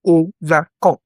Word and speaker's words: overcome: Overcome similarly has stress on the final syllable. Overcome.